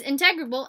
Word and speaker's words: integrable: is integrable integrable um I should look that up the pronunciation is integrable and uh we have